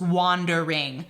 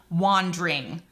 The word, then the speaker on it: wandering: like in sonnet 116 the word wandering in shakespeare's accent that would be three syllables wandering but that would not fit the ten syllable per line format so he makes it into wandering also just fyi when